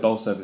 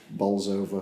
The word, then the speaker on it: Bolsover: He keeps saying this, but he's trying to push Bolsover because he's buying a house there. Oh, okay. Trying to get the house. But you have to pronounce it Bowser then, don't you?